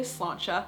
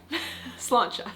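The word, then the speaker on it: sláinte: hear people cheers and say slancha, spelled s l a i n t e. Yeah, slancha.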